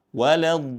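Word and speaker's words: ولا الضالين: Lalu kemudian ada annabr ya, ada tekanan waladin seperti itu. Jangan sampai tidak ada tekanannya ya.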